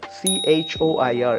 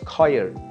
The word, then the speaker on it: choir: articulation process or procedure the next one would be coir c-h-o-i-r it's coil it's not choir it's coyer right after that the